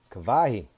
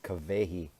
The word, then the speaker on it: Kawehi: an mma radical lady kawahi where are you sorry i'm saying your name wrong kavehi where are you let's